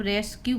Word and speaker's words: rescue: तो हम इसको का के रूप में ही पढ़ेंगे, जैसे RESCUE, इसको हम रेस्क्यू पढ़ते हैं, रेस्क्यू।